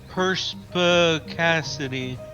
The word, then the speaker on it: perspicacity: Okay, so that word that we had never heard of, perspicacity, is how you say it according to this pronunciation key.